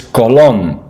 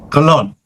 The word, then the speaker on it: Colón: I think it's Colombo. It is. Yeah, okay. Now, in Italian in Spanish it's Colón. Colón.